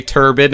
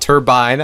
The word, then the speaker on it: turbine: And yes, I've been getting plenty of comments about the fact that I say turbine and not turbine, I actually say both.